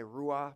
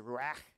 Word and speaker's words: ruach: The Hebrew word for breath is, well, I like to say ruah, but it's actually ruach. That's how you say it in the Hebrew, ruach.